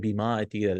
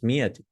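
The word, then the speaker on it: مئة: We don't pronounce that alif. So some students, they read bima'ati riyal. No, it's mi'ati.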